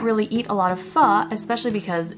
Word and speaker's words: pho: Pho is a Vietnamese noodle soup, and yes, pho is how it's pronounced, and yes, it's okay if you've been pronouncing it wrong for most of your life.